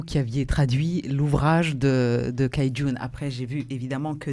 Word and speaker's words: Cai Jun: d'ailleurs je corrige, c'est Cai Jun, ça se dit. Cai Jun, voilà. Encore une fois, comment on prononce ? Cai Jun. Cai Jun. Cai Jun. Le C se prononce comme un TS.